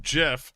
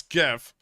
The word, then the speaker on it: GIF: probably be read again it's not pronounced Jiff it's GIF GIF is a [